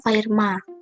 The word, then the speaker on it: Fermat: yaitu teorema fermat jadi fermat disini itu dibacanya Firma jadi teorema fermat ini